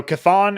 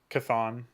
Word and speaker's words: Kathon: site but whatever yeah you just imagine it's like k and then thawne cathon arbiter name is died act